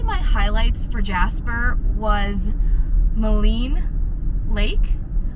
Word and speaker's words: Maligne: So probably my highlights for Jasper was Maligne Lake, which I just found out we've been pronouncing it wrong the whole time, so I was calling it Maligne, but it's Maligne Lake.